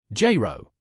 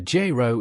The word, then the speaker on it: gyro: Gyro. Meaning: a gyro is a Greek dish with meat, veggies, and sauce in flatbread. Say gyro and you'll notice it has two syllables. J. Row.